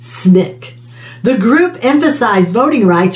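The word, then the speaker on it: SNCC: coordinating committee on or known as ncc pronounced snick the group emphasized voting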